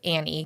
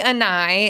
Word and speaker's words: Ani: they're like, "Who's," they ask Annie because it when you spell it out, it's like, "Oh, who's Annie?" And I'm like, "It's actually Ani." And it's my daughter's middle name, and it means beauty in Hawaiian.